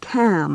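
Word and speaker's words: calm: so now you must cam down he said now you know it will be all right he pronounced cam in the Scottish way to rhyme with lamb yes the woman said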